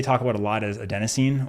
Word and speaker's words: adenosine: about a lot is adenosine or adenosine if you're of our British colleagues which I was listening to a book and they pronounce it that way and it blew my